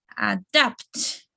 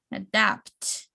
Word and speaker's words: adapt: Adapt. So we just like falling here, adapt. And adapt, it's the second syllable.